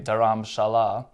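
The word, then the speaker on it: Dharamshala: alone but guess what dharam salah the locals say daram shala is one big hill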